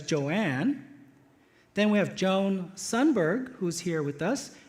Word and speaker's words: Joan: Joan Dandoy, spelled exactly the way the other 2 like their names, but Joan Dandoy likes to be pronounced as Joanne.